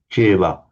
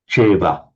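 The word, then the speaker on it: ceva: anupanna Now remember that the letter C is always pronounced as a ch. It's just the way we do it. So cheva. Panacha That's cheva.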